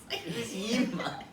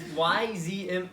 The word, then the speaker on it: Yzma: Yeah, I don't think there's a Y in front of it. No, there is. I looked it up. There is? Yes, I looked it up. Why silent? No, I don't know. But that's how you spell it.